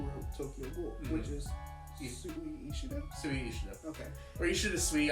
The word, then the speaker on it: Sui Ishida: And this is actually by the same creator who wrote Tokyo Ghoul, which is Sui Ishida? Sui Ishida. Okay. Or Ishida Sui. I've heard pronunciations, so someone's gonna groan eventually, like, what are you saying?